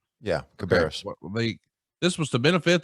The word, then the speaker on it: Cabarrus: Cabarrus. Yeah, Cabarrus.